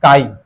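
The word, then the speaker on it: χ: এই সিম্বলটাকে বলে কাই চাই লেখা হয় কিন্তু উচ্চারণ হচ্ছে কাই মাংসের কাই কাই সিম্বল মানে দুটো রেশিও সাব্বাস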